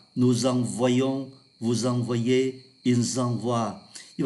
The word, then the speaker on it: envoyons: hai vị trí là ngôi thứ nhất, ngôi thứ hai số nhiều là oai. Tôi xin đọc lại: j'envoie, tu envoies, il envoie, nous envoyons, vous envoyez, ils envoient.